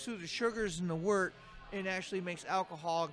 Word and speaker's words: wort: Wort is pronounced wort, but it's spelled W-O-R-T.